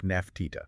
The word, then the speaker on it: Nefertiti: Uh, based on the uniform correspondence from the, you know, diplomatic letters from other kings trying to write her name phonetically. It was likely pronounced something like Nafta.